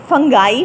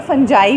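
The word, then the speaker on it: fungi: एंड ये word जो है इसको फंगाई भी बोलते हैं और फंजाई भी बोलते हैं। यूजुअली हम इसको फंजाई बोलते हैं, लेकिन इसकी एक और प्रोनाउंसिएशन फंगाई भी है।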